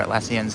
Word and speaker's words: Atlassian: I'm pretty sure Atlassian's how you pronounce the name.